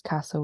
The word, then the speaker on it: castle: D without the B number nine is castle without this T great and then lastly